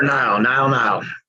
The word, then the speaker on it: Nile: How I need to pronounce Nile, like the river, sir. Nile.